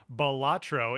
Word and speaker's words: Balatro: I realized I had this moment the other day when I realized that Balatro is actually pronounced Balatro, and I thought about it.